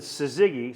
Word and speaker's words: Syzygy: I learned that Syzygy, spelled S-Y-Z-Y-G-Y, Okay.